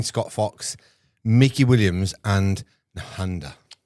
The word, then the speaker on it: Nehanda: Welcome back to the Ranting and Raving podcast with myself, Scott Fox, Mickey Williams, and Nehanda.